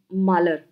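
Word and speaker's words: Mahler: Margaret मालर, इसमें H silent होता है इनके प्रोनाउंसिएशन में।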